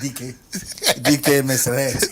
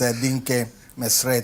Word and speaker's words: Dinke Meseret: Somebody pronounced DK Meseret. DK Meseret. Her name is Dinke Meseret from Ethiopia, and then Almnesh Herapi and Kebana Chala.